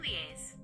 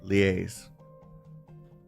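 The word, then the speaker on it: liaise: The word leaz is pronounced lies. Liaison. That's how what I was thinking of.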